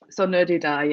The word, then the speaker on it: Saw Ner Dhu: I wanted to sort of give credit to your co-author up front, and I might say his name wrong, but like Saw Ner Dhu, is that right? Saw Ner Dhu, yeah.